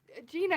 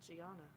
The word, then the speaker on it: Gianna: Gina is her name. No. but I'm pronouncing everyone's name wrong. What happened to Gianna?